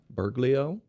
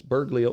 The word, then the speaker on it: Bergoglio: But here in Wikipedia, I looked up the pope, and it says under the Jesuit part that Bergoglio, how's it pronounced? Bergoglio.